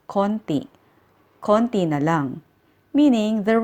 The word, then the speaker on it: kaunti: Kaunti means few. But native speakers pronounce this as konti.